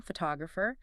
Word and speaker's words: photographer: Add the suffix for the person photographer. See how the stress jumped to the second syllable.